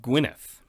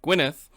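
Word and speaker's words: Gwynedd: at prince blethen of gwyneth that's right i read and see how to pronounce the double d and apparently it's a th so if that's wrong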